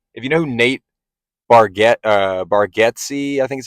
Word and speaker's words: Bargatze: And if you know who Nate Bargatze, I think is how you say his name,